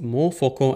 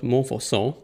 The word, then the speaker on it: Montfaucon: Last time we were still in Montfaucon, and yes, it is spelled pronounced Montfaucon and not Montfaucon.